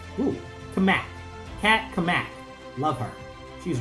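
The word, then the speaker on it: Cammack: Kamek. Ooh, Kamak.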